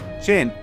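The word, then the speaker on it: Qing: The root of the name China that चेन dynasty is 2000 years old. This was द क्यू आई एन जी चिन dynasty.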